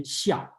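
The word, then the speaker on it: 孝: That's why I keep the Chinese pronunciation xiao, okay?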